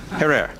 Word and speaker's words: Herer: Have I pronounced it correctly, Jack? Herer.